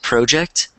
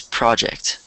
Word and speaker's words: project: You said project, but it's project. Project.